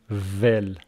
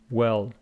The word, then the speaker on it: well: Don't say vel. It is well. If you want to pronounce this, you should say very well. The first one is a labiodental, v. The second one is a round. You say w.